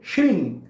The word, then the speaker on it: श्रीं: तो श्री के आगे अंग का उच्चारण आप करें, श्रिंग। यहां पर भी म या न का उच्चारण नहीं होगा।